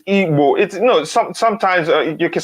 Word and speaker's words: Igbo: It's not Igbo, it's Igbo. Sometimes you can spell it as IBO, Frank Auba.